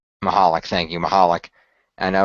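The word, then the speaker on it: Michalek: Connor, for those of you who might not know, Connor McCallick was an 8-year-old boy who was diagnosed with, unfortunately, a pediatric brain tumor. And he brain passed. Cancer. I believe it's pronounced Mahalik. Mahalik, thank you, Mahalik.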